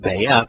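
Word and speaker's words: Beth: Or it can be the letter itself is pronounced Bayeth, and it means family or house, so it'd be the house of the Lord, who is Satan, or with Satan.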